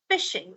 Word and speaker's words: phishing: Now, one word phishing, its pronunciation is, it's not like F-I-S-H-I-N-G. This is phishing.